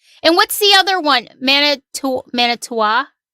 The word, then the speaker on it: Manitowoc: Manitowa? How do you say it? Anybody wants to? Manitowoc.